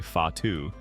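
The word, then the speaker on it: whatu: technique for cloak making watu pronounced roughly fatu relies entirely on the direct manipulation of threads by the weaver's fingers.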